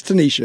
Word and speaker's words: Tanishia: It is Tanisha. It's just spelled Tanishia.